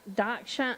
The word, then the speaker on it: Dachshund: Why are there no losers in a dachshund?